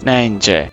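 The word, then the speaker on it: Nijntje: And in Dutch, her name is pronounced MJ.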